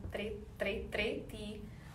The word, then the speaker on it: tři: Tell me who of you practiced the pronunciation of number 3 in Czech. Tři. You can write the comment there. Tři, tři.